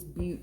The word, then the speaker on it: Butte: I can't find elephant butt, but I know it's not butt. It's butte or something like that because it's a geography thing, and I didn't do so hot in In geography.